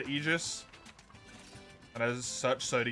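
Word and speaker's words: aegis: game which triy requested why can no one agree on how egus is said it's either agus or egus it's a pronunciation thing B that one it's like tomato tomato agus egus what does egus even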